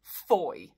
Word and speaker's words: Fowey: If you're a local to this place in Cornwall, you're going to pronounce it Foy.